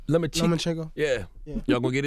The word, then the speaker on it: Lomachenko: Now, what about, how you pronounce this dude name? Lemachik? Lomachenko.